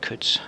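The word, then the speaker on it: Coutts: I'd expect this to be over this end, and we've had another interesting question here with Alan Cutts, or maybe it's Cutts, C-O-U-T-T-S. We would pronounce that Cutts.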